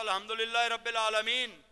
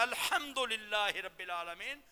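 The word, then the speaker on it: الحمد لله رب العالمين: آپ کہتے ہو الحمدللہ رب العالمین. اگر اس انداز میں پڑھتے ہو تو وہ ہے 2 آنکھوں والی بنتی ہے, الحمدللہ رب العالمین. صحیح تلفظ یہ ہوگا الحمدللہ رب العالمین, وہ ہا حلق سے نکلے.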